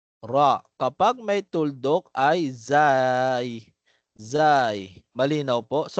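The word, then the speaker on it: زاي: Kapag may tuldok ay zay. Zay. Malinaw po. So, ang pagbigkas niya naman po ay normal lang na para bagang letter Z katulad ng ating pagbigkas sa wikang English. Z. No, zay. Zay.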